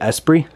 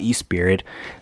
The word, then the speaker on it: Esprit: It's Esprit. I'm pretty sure that's how you say it, Esprit. It's not E-Spirit.